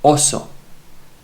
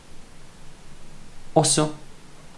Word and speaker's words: oso: for English natives, because you don't pronounce it O, it's short O. Oso. Oso means bird. It's not oso, it's oso.